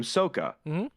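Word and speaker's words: Sokka: on the main character one of the side characters is name is Saka they had him called him they called him sooka right like changing the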